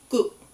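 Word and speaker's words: 국: And then the last character is going to be Guk. You kind of want that first character in that sound to be more of a G almost, between a G and a K, and that last one to be more of the K than the G.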